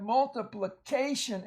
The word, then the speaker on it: multiplication: Then you have multiplication, and I want to emphasize that A right there is long at the end of a syllable. Usually the A will be long in front of the tion.